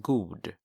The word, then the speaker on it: god: But to say good, you would say god, god. So it's spelled with one O. And in Swedish, you pronounce that god.